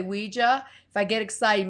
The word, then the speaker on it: Ouija: out with the planchette, they actually put the phonetic spelling on a box of the planchette that said, pronounce it Ouija. So I kind of Really? go old school and say Ouija.